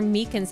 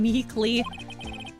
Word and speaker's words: Meekins: Actually, Officer Meekins at the detention center told us. The poor little doggy. Poor guy. I kept getting his name wrong, calling him Meekly.